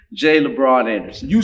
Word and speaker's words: Labron: name up and I just jacked Mr jeez pronounce your name Jay LeBron Anderson you said it I'm glad you're saying